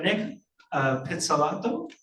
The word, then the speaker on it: Pizzolatto: Francois Camoin, and Nick, I hope I can pronounce this right, Nick Pizzolatto?